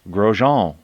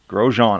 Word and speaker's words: Grosjean: On screen right now we have, and I kept saying the name wrong, but I got a little tip. It's Grosjean. Love it. Grosjean.